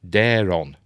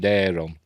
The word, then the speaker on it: Daeron: Also, hardcore fans and TikTokers, please note, Condal pronounces those names as Cregan and Daeron.